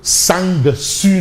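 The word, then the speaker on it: sangsue: Modig qui m'a rappelé que sang su ne se dit pas. Le g ne se prononce pas. On parle de sang su pas sang su effectivement professeur c'est sang su alors on reste avec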